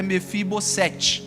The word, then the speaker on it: Mefibosete: Então só um parênteses, mas a pronúncia correta é Mefibo tá essa junção aí no hebraico.